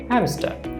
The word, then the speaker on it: hamster: এখানে লক্ষ্য করুন hamster আর তার পরের শব্দে হ্যাডে এইচ আছে, তার মানে হচ্ছে আর এর পরে কি আছে এইচ, অর্থাৎ কনসোনেন্ট। সুতরাং আমরা আরটাকে উচ্চারণ করব না, কাজে আমরা কি বলবো হ্যামস্টার।